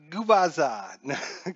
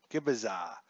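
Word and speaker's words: Gubicza: Mark Gubaza.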